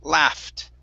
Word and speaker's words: laugh: so this word here instead of L LA it's La laugh laugh okay all right very